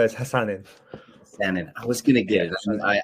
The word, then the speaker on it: Hassan: want to pronounce it wrong would you mind pronouncing your name for me yeah it's it's uh it's Hassan and I was gonna give I I can